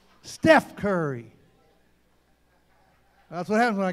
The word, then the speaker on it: Steph Curry: I'm walk Steph Curry Steph Curry all right gotta say it right Steph Curry that's what happens when